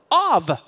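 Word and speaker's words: אב: Av.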